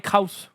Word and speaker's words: Kroos: Je sais pas, c'est écrit comment? Je crois que c'est Kroos.